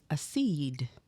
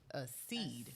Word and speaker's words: accede: you what you got so today's word is a seed a seed a seed I'm gonna spell that out okay it is a c c e d e a seed okay it is a verb and what it